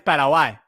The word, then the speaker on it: Paraguay: It's Paraguay.